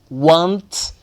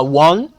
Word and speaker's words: won't: A forma negativa do will é want. Muita gente fala one, de forma sem pronunciar o T e vai. Vais ouvir muita gente a dizer one, ok? É want ou one, ok?